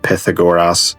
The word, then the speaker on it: Pythagoras: Never mind, turns out it's this Pythagoras, or as the Greeks pronounce it, Pythagoras.